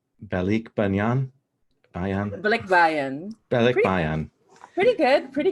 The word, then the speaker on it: Balikbayan: going to pronounce wrong, and I've heard it pronounced, and it's Balikbayan.